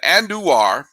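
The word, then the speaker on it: Andújar: with the A's and andu which is how you pronounce it and duar that's a emphasis on the do it's kind of like Shan doitt and doar um I remember John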